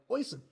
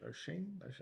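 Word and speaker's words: Oisín: Because I looked at it, and I was like, Oisin. Like Hoisin. So Yeah, like Oisin sauce, but it's not. I don't know. O'Sheen. O'Shea? O'Shea? Oh, O'Sheen. I think that's what I think. Is that how they pronounce Yeah, it? maybe Apologies in advance. O'Sheen or something.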